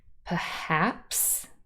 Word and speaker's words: perhaps: one of the words perhaps remember that means maybe so two syllables perhaps and the second syllable is stressed it was a bit